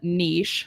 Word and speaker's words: niche: so he's very very Focus focused on one Niche I'm saying it right for the first time